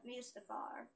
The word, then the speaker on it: Mustafar: the levels, and that's Mustafar. It's called Mustafar. It's called Mustafar, Sean. Now, Christian, look. It's called Mustafar, Sean. It really is, because... First of all, they say it like that in the movie.